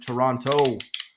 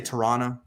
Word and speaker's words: Toronto: Toronto. Don't say Toronto. Like that's not how you say it. It's Toronto.